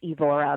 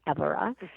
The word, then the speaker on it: Évora: And the main towns there are, Évora, which most people pronounce Evora, but it's pronounced Évora.